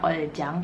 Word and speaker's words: Ulzzang: tulisannya kayak gini atau Kalian ada yang bilang Ulzzang Tapi bacanya oleh Jung kesalahan erat dan gue